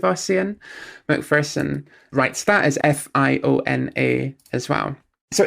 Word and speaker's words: Fiona: accent that tells us that this is supposed to be pronounced Fiona.